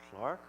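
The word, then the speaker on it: clerk: the post of a junior Clark spilled c-o-e-r-k pronounced Clark why there'll be more of these go ask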